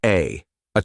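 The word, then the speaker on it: Å: Welcome to A charming little village unique for its extraordinary name. Pronounced simply as A, this town boasts one of the shortest place names on the planet.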